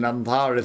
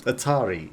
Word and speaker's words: Atari: radio though interest in antari symbols Atari not antari Atari you pronounced the Atari and those things are